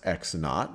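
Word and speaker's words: x₀: is x sub, well, this is pronounced x naught, or you just x sub 0 is just x naught.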